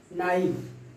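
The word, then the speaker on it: knife: इसके बाद हम देखते हैं कि के साइलेंट हो जाता है जब भी किसी एन के पहले अगर के आ जाता है तो के का प्रोनाउंसिएशन नहीं होता है। आपका यह है नाइफ, नी, नो, नाट।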